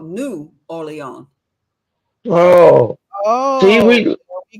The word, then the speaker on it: Orleans: New Which one? Orleans. Nolans? It's No. Orleans. That's a French city.